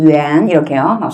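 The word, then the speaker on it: 元: ' 위안 ' 또는 ' 위 엔 ' 으로 발음 되지만 , ' 위안 ' 으로 발음 하는 것 이 더 좋을 것 같습니다 . 대부분 의 북부 지역 에서 는 이렇게 발음 합니다 .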